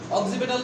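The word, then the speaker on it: occipital: বাংলা লিখে দেন, উচ্চারণের সমস্যা। অক্সিপেটাল, হ্যাঁ বাংলা উচ্চারণ এরকম হবে, অক্সিপেটাল।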